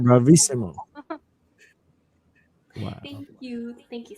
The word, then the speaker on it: bravissimo: This is how you say it, bravissimo.